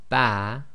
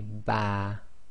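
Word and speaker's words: ب: meme when you say ba your lips come together but it's the wet portion or the inner parts of your lipss actually touch so say ba and when you say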